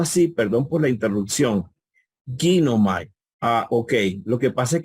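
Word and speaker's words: γίνομαι: Si tú ves a Ginomai en griego, Ginomai tiene en su forma léxica, Ginomai tiene el acento en la iota al principio.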